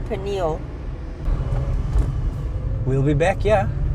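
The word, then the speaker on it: Pniël: too quickly it's not panal it's panal yeah the emphasis is more on the P eh well it's on the p and the N where we yeah we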